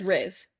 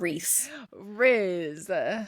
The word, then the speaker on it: Rhysand: His name is Riz, not Reese.